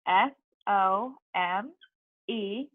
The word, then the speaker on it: some: have some because remember some is spell s om e but it's actually pronounced you some s UN because this oh and II make the you sound that's why on our